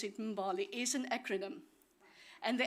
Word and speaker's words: Mbali: Now, the other side of it, Mbali, well, I pronounce it Mbali, is an acronym.